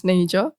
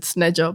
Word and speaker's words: Sneja: So my name's Snay-ja. I think Aaron said Sneja, but it's fine.